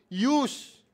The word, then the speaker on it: ewes: So kailangang gabayan yung mga ews ewes ha ma yung misis ko alam i-pronounce yun use.